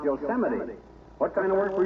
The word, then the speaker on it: Yosemite: Not Yosemite, old-timer. That's pronounced Yosemite.